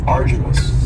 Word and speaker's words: arduous: And arduous has 3 syllables, and the stress is on the first syllable. Arduous. Now, you don't hear that D sound that much. It's not very strong. It almost sounds a little like a J.